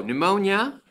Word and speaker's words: pneumonia: yeah you do okay so pneumonia oddly spelled with the p at the beginning is when you get